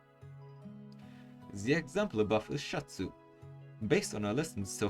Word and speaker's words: シャツ: The example above is Shatsu. Based on our lessons so far, you'd look at this and read Shi-ya-tsu. However, because the Ya is written smaller, you merge the sound with the character before, in this case, Shi.